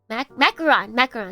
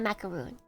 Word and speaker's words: macaron: Macaron, not macaroon.